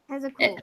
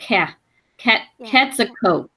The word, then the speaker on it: Quetzalcoatl: Yeah, and you pronounce it Quetzalcoatl. It's like the Q sounds like Quetzalcoatl.